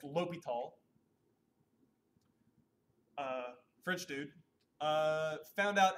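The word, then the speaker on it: L'Hôpital: this old French a hospital thing but it's pronounced low be tall french dude found out how to take the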